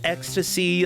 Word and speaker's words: Extase: said I believe that the game is pronounced ecstasy uh which makes sense with the whole emotion theme here I can't take credit